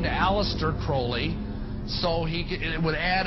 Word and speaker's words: Crowley: about was Alistair Crawley he likes to have his name pronounced Crowley to rhyme with holy and uh the Satan